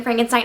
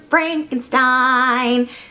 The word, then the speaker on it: Frankenstein: is that true Dr Frankenstein that's Frankenstein my name it's pronounced Frankenstein yes yes the whole